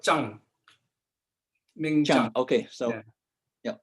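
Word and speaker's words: Tsang: I went in Ming Stang. How do you pronounce T-S-A-N-G? We call it Zhang.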